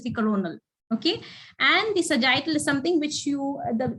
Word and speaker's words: sagittal: one very good so how do you say it the sardine yes very good it's sagittal so the axial is